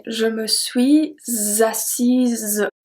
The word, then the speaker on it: assise: If it's a woman, we are going to say je me suis assise. Z. So it's a Z sound at the end. Je me suis assise.